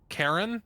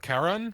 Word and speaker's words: Charon: How do you spell it? Charon. That's Yeah. pronounced Sharon. Is it pronounced Sharon? I've always Yeah. heard it Yes. with a hard C sound.